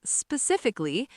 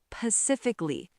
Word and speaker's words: specifically: Specifically. I said Pacifically. Pacifically. Everyone heard that, right? Everyone. And then someone said, "Oh, like the Pacific Ocean."